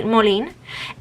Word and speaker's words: Molin: the brand is called molin i'm gonna pronounce it like that because in spanish it would be moline and yeah it there